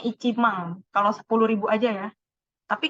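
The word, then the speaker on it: 一万: Nah, 10.000 ini bacanya Ichimang.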